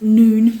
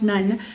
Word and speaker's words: Nun: Um where Eleazar the priest, Joshua son of, and it's pronounced noon, not none.